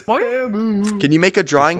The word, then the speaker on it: Temu: I bought it off Temu. So. Hey! It's not Temu. It's Temu. Oh yeah, from the Super Bowl. Bro.